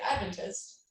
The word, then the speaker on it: Adventist: The correct lingo is Adventist. Yes. Okay. Emphasis on the first syllable.